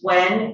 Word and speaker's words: Nguyen: It indicates that the assistant medical examiner was Teresa Wen, which is spelled Nguyen, MD, and she found